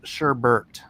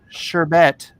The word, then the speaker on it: sherbet: r and then there's sh sherbet sherbet versus Sherbert yeah it's two different things what's the scoop sherbet pronounced sherbet is the usual word for the